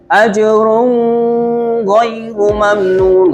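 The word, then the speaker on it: أجر غير ممنون: Nah, dibacanya nun matinya dibaca jelas dibaca tanpa gunnah, tanpa dengung. Ajrun ghairu, nggak boleh. Ajrun ghairu mamnun, nggak boleh dengung.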